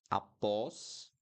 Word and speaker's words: após: Okay, so avó, awesome, avósome, avósome, awesome, ó, right? And then após, após, ótimo, awesome, ótimo, ótimo.